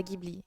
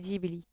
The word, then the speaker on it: Ghibli: commet prononce antoine ça se prononce jebli futur prononcé ghibli moi j'ai un oreilles qui éclate à chaque fois que quelqu'un digby sepa ghibli c'est geely et je saigne de l'oreille dès qu'on me